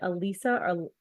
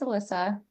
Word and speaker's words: Alissa: I hope, is it Elisa or Alyssa? I'm sorry if I'm mispronouncing your name. No, it's no problem. It's Alyssa.